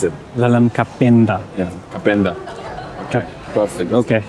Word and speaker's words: Wellem Kapenda: Is that how I pronounce it? Wellem Kapenda.